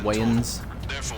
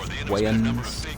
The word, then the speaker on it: Wayans: I always wanted to call him Damon Wayans, but I guess it's spelled W-A-Y-O-N-S, so it's Wayans. Wayans.